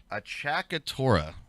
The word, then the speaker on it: acciaccatura: Achakatura. We're going to be calling them flams. Achakatura.